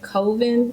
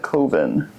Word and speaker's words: Colvin: shed more light on let's call that Coven. Did I say her name right? Yes, Claudette Colvin.